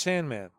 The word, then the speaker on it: S&M Man: It's called S&M Man. Yeah, it's like an ampersand. Yeah. Mm-hmm. It's pronounced Sandman.